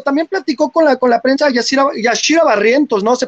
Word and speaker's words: Yashira: Líderes del Rebaño, también platicó con la prensa Yashira Barrientos, ¿no? ¿Se pronuncia Yashira?